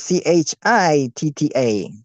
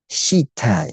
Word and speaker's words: citta: In this case, it's spelled Chitta. So even though it might be spelled Citta, I think it should be pronounced chitta nevertheless, or maybe it's soft. Shita, bodhicitta.